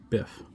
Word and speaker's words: Byph: Today on the bunch here is a Adam Sabers and I believe it would be pronounced Biff. It's BY PH. Um I suppose it could be Biff, but I believe it's Biff.